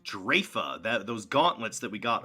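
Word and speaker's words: Draoife: sense of all this drefa it's pronounced drafa those gauntlets that we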